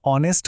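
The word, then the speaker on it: honest: हमखास होतात शी इ ऑनेस्ट girl चुकलं कारण ऑनेस्टचा उच्चार अ ने होतो म्हणून बरोबर वाक्य आहे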